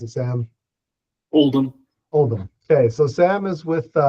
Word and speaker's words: Oldham: How do you pronounce it, Sam? Oldham. Oldham.